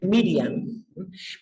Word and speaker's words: Miriam: Lo que pasa es que María realmente se dice, en hebreo se dice Miriam.